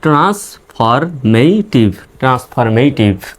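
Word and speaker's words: transformative: এ টি আইভি টিভ শব্দশেষ টি আইভি থাকলে tube উচ্চারণ হবে টিতে ট আই রসকার ভিতে ভটিভ আর শেষের ইর উচ্চারণ নেই তাহলে ট্রান্সফরমেটিভ ট্রান্সফরমেটিভ টি এইচ আই এস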